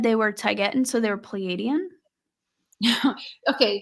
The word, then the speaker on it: Taygetan: That's how I pronounce it, Taygetan. And he's never corrected me.